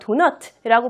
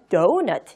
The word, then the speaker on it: donut: 자, 발음을 하실 때는요, 도넛이라고 발음을 하는 게 아니라 donut 이렇게 발음하시는 거예요.